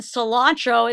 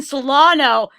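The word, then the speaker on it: Celaeno: Upon editing this, I've already seen the movie, so I now know that her name is not Captain Cilantro, it's Captain Solano.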